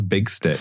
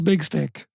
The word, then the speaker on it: Big Stick: So, the mayor's name, which you just pronounced... How'd you do it? You said insanely wrong. I said Tigarius Twirl's Big Stick.